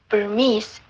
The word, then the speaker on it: Burmese: In such cases, we have no choice but to place the secondary stress on the penultimate syllable, like Burmese and Chinese.